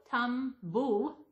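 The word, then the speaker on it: Tumbulgum: And one on this post I put saying, I still don't get how you pronounce it. Well, I say T-U-M-B-U-L, tumblegum.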